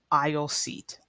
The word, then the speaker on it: aisle: end up please remember the pronunciation is a little odd compared to how it's spelled but it's pronounced I seat I seat or the